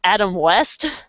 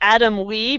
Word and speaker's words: Adam West: was so starstruck that I almost mispronounced his name, was Adam West. Oh my goodness, that is And I almost said Adam Wee because of Family Guy.